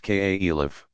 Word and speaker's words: caliph: successors muhammad's immediate successors called caliphs pronounced k.a elif inherited an expanding but